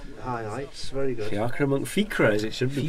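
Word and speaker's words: Fiachra: Fiacra Monkey, Fiacra as it should be pronounced.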